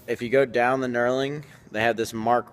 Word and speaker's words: knurling: the rough part and this rough part is called knurling that's with a silent G and it's there so